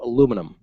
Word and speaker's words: aluminium: Well, they also add syllables to aluminium. Aluminium. Aluminium. Mm-hmm. Yeah, it's like, why must you pronounce every single letter in the word?